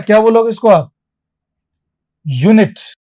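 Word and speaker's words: unit: क्या बोलोगे इसको आप यूनिट य का साउंड आ रहा है प्रारंभिक ध्वनि इनिशियल साउंड य का आ रहा मैं जो किलो होता है वह वजन की यूनिट होती है।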